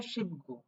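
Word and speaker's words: 십구: বসছে তখন শেষে বসছে যার কারণে এটা হবে শিব গু ঠিক আছে কিন্তু এমনিতেই যদি এটা বসতো সেক্ষেত্রে আমরা খু বলতাম বাট এই যে 19 লিখতে বা 19 বলতে গেলে এই গিয়েকে গ পড়তে হবে কারণ সেটা শেষে পড়ে গেছে ঠিক আছে উচ্চারণে বিষয়গুলো খেয়াল রাখতে হবে শিব গো তার মানে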